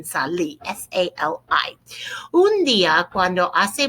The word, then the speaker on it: salí: Accent on the I in salí.